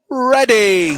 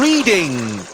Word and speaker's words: Reading: And last into the fryer tonight, it's Reading. Oh, shit, I don't know this. Or Reading, if you pronounce it wrongly.